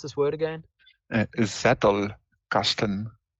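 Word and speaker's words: Zettelkasten: that Z cast how do tell me how pronounce this word word again zettle Casten Z yeah it's a German word zast yes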